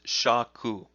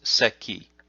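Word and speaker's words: 尺: And in this case, if this were used in a Japanese name, it would be pronounced seki.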